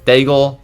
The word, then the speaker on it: Daigle: Daigle rhymes with bagel.